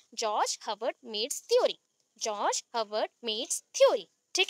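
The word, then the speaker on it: Herbert: ठीक है, मैंने यहाँ पे हर्बर्ट बोला बिकॉज आपको स्पेलिंग में प्रॉब्लम ना हो, अदरवाइज इसको बोलते हैं हर्बर्ट, आर प्रोनाउंस नहीं होता है।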